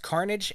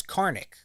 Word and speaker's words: carnage: words and discovered that Isham had mispronounced Carnage as carnic I don't know what the a carnic is but I knew that